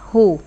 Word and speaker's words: who: Cái này bị câm chữ W rồi. Who.